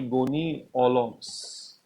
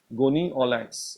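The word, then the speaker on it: Gonyaulax: Very often red dinoflagellates, like example Goni olax. I'm sorry, that's the right way to pronounce it. Goni olax.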